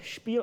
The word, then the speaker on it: spiel: rendering we call it spiel xml with an s-p-i-e-l with the german pronunciation and surprisingly it's xml